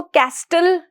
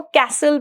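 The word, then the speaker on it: castle: इस केस में अगर आप देख रहे हैं जो टी है, टी साउंड, हम उसको कैस्टल नहीं पढ़ेंगे, हम उसको कैसल पढ़ेंगे। क्यों, क्योंकि जो टी साउंड है वो इसमें क्या है, साइलेंट, और लिसन में भी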